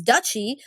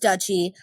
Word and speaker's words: duchy: He began the long process of taking control of his duchy, by the way, or dukedom. It's pronounced duchy. I Googled it 3 times. It's duchy.